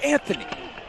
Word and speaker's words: Anthony: You didn't say it right. It's Anthony.